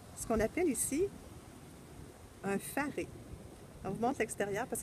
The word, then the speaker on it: faré: Donc, le faré, on se demandait si c'était bien comme ça qu'il fallait le prononcer. C'est bel et bien faré qu'il faut dire.